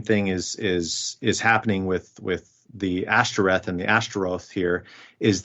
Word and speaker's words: Ashtoreth: So now whenever you as an Israelite are pronouncing the Ashtoreth or Ashtaroth, you're reminded that this is shameful because you're using those vowels, which correspond to the word for shame, for this deity.